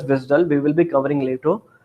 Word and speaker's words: WSDL: controlled and managed by WSDL which is pronounced as visdal we will be covering